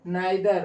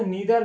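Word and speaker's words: neither: इसको ईदर और भी पढ़ते हैं, इसको नीदर नोर भी पढ़ते हैं। आइदर या ईदर, नीदर या नाइदर, कुछ लोग इसको दोनों तरीके से प्रोनाउंसिएट हम कर सकते हैं।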